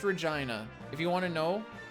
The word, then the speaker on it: Regina: think of when I see Arkansas it's pronounced Regina if you want to know there's a fun